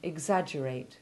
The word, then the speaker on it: exaggerate: the stonemason didn't like note however that the double g is soft in exaggerate and exaggeration listen to a sentence